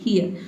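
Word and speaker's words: hear: और यहां पे जो आर लेटर है ये भी साइलेंट रहेगा। क्यों? क्योंकि आर से पहले देखिए ए लेटर आया है। ए क्या है आपका? वोवेल है। इसलिए हम यहां पे इसको क्या पढ़ेंगे? ईयर। ठीक है? हियर। ठीक है? हियर। आप आर को साइलेंट रखेंगे तो आप सही-सही प्रोनाउंस करेंगे।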